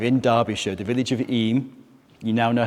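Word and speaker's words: Eyam: village in 1665 in derbyshire the village of eem you now know how to pronounce it correctly we have families such as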